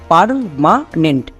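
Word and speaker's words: permanent: উচ্চারণ করে নেব যেমন পিই আর এর জন্য হয়ে যাবে পার অনেকে একে ভুল করে পের উচ্চারণ করছো পের কিন্তু হবে না নেক্সট এম এ এর জন্য হবে মা এম এ এর জন্য মা। তারপরে চলে আসো একদম শেষে এন ই এন টি এর জন্য হয়ে যাবে নেন্ট। তাহলে একসঙ্গে উচ্চারণ করো পারমানেন্ট। পারমানেন্ট।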